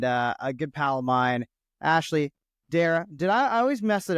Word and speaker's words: Ashleigh Darrach: I have to remember, like, C is silent, but the H is technically there, right?